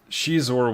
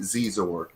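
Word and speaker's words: Xizor: The new characters, Shizor was a little bit of that's how you guys pronounce it too, right? Yeah. Okay. Yeah. And I think that's how you're supposed to pronounce it. When I was reading it, and that's how they got said in the junior novel to pronounce it. Yeah, that's right. You're right. I think I went for years pronouncing it Zizor.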